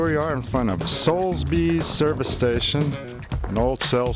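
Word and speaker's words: Soulsby's: Solsbys, that's how you say it, right? Yeah, Solsbys.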